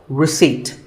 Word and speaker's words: receipt: As in word number 24, receipt. The P is silent.